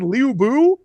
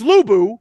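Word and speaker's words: Lü Bu: And like they keep calling my man Liubu. I'm like, "No, it's Lubu. This Liu, it's not going to fly with me."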